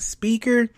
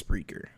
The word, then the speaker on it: Spreaker: It's Spreaker, not speaker. You'll think it's speaker, just add an R right after the P, and it's Spreaker.